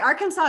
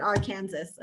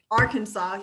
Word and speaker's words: Arkansas: Arkansas is correct. Arkansas is 100%. You do not pronounce it Arkansas, okay? Don't let your brother tease you. Don't let him filter your brain with the wrong information. It is Arkansas.